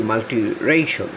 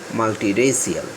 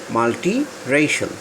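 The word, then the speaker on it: multiracial: এখানে আমি উচ্চারণ করেছি মাল্টি-রেশাল, আমরা বলি মাল্টি-রেসিয়াল, হবে মাল্টি-রেশাল।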